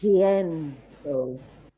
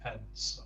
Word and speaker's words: pienso: say, Michelle Thomas says it's because it's the syllable you push down on. So it's pienso, but pensamos. Rather than penso, yeah.